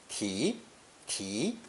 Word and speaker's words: 题: Pronounced second tone, 提,提. You will find in many characters when serving as a phonetic, 是 is usually pronounced 提.